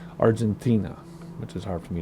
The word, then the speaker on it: Argentina: the Atlantic Ocean Argentina the proper way to say Argentina is to add an H after the T Argentina which is hard for